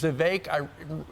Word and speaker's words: Vivek: You know, when he was Vivek was on our show last week before, and he did a little rapping. He said, you know, my name's Vivek. It rhymes with cake, so maybe that's his nickname.